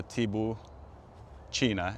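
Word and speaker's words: Tibouchina: why sometimes I I I pronounce it as tibo China because it is spelled exactly the same way as China C hi i n a so TBO China is the way you pronounce it but it's spelled like China basically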